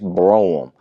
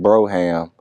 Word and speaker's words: Brougham: I know a lot of us guys grew up pronouncing it Brougham, but the proper pronunciation is Brougham.